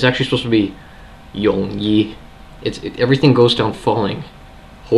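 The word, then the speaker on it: 容易: It's actually mid to low. It's a low tone falling. So instead of Yongyi, it's actually supposed to be Yongyi. Everything goes down falling. Ho Yongyi means very easy.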